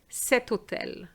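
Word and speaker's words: cet hôtel: its set as well because it's an h but it's silent so we're going to say seto tel seto tel je ve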